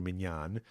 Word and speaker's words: minyan: is the concept of minion or minion I should say should pronounce him like the more modern Hebrew mignon because when I say